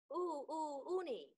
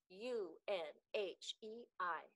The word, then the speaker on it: Unhei: asked the girl asked scrunching up her face uni some kids chanted no no unhei corrected it's spelled u n h e i it's pronounced unhei oh it's you hey the boy said like you hey what about